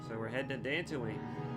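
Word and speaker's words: Dantooine: so we're heading to dancing Wayne the one planet that rhymes with Tatooine and was mentioned offhand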